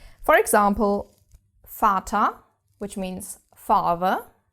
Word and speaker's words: Vater: is quite different from English because we actually pronounce it mostly as an F. F. For example, Vater, which means father, Vater.